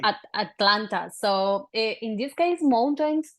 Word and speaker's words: Atlanta: Atlanta, there are the T's here, we do not pronounce them.